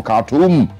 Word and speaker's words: Khartoum: It says Tanzania's bold rescue mission of its citizens from Khartoum. Or Khartoum, as it's pronounced.